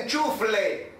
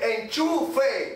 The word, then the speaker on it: enchufe: comando de voz y no se dice enchufle como dicen muchos por ahí se dice enchufe como enchufar la plancha bien no sé por